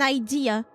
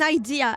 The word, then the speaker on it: idea: The difference between ID and idea, they they they they don't manage to get it right. Like four times out of five, people just pronounce idea as ID all the time. It pisses me off. I have an idea. I have an ID. Doesn't mean the same.